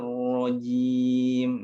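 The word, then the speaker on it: الرجيم: Nah, ke huruf ro-nya lagi itu ada tafkhim lagi ya. Huruf ro. Tebalkan lagi itu. Saya ulangi bacanya. A'udzu billahi maaf. A'udzu billahi minasyaitonir rajim. Nah, ini rajim. Jadi ada dua tempat yang ditebalkan ya. Yang pertama di to, yang kedua di ro.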